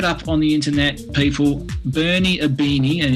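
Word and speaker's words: Bernie Ibini: hand look it up on the internet people Bernie aini and it's aini is spelled IB i n i Bernie aini scored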